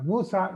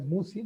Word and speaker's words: Musa: Now Musa, you don't pronounce it as Musi.